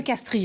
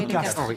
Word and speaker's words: Castries: Ben, on dit Henri de Castres, ma chère. On me dit Henri de Castries. Non, c'est de Castres. Ça. Ben oui, on prononce de Castres. Oui, c'est ça. C'est les noms aristocratiques. N'écoutez pas les voix. Seule l'aristocratie le sait. C'est l'aristocratie qui avait une prononciation spéciale.